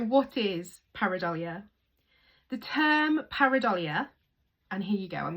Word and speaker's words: pareidolia: And it's pronounced par A do le.